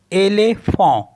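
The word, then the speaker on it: éléphant: Next word मैंने already बता ही रखा है आपको, ELEPHANT, एलेफॉन्ट।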